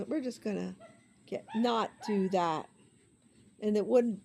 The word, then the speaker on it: Noel: there's Goodman there's null it's spelled no o but it's called no I always said Noel they said it's no okay got that wrong